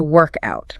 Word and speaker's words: workout: Because of where the stress lands.